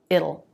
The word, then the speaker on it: it'll: or it will it'll now hear the dark L which I would write schwa El makes the t a flap T it'll it'll it'll it's just like the word little with no beginning L this is a little